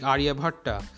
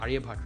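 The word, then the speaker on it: Aryabhata: Then there are like wonderful people like mathematicians like Aryabhatta. That should be pronounced like Aryabhat, right? Sorry, Aryabhat.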